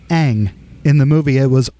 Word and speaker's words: Aang: live-action adaptation movie is the name pronunciations they did wrong oh yeah they they and they had material for the names like in the cartoon it's Aang in the movie it was Ong uh they call that